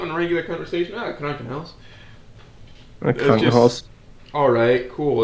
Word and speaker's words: Krankenhaus: No, it's Krunken house. I mean, if you pronounce it stupid, of course it's going to sound stupid. But if it comes up in regular conversation, Krunken house. Krankenhaus.